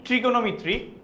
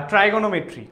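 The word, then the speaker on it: trigonometry: So first দেখেন ট্রিগনোমেট্রি বা ট্রাইগোনোমেট্রি বা যেভাবে উচ্চারণ করেন কোন সমস্যা নাই।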